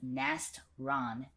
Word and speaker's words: Nastaran: That's pronounced Nast-Ran in New English, by the way, but she goes by Nast.